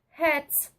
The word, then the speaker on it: Hertz: Isso aí significa o Hz, que na pronúncia certa fica Hertz.